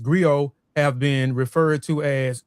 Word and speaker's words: griot: Uh they are unique to west Africa um professional encompass many roles uh pronounced go have been referred to as a historian or